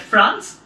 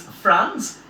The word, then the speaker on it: Franz: named Franz if RA in Z it's not pronounced at France its France and a teacher who is serving his school